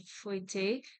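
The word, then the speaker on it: fouetté: Okay, so example, if you have something called the Fouettet, and I know I'm saying it right, it's called Fouettet, and she's going to start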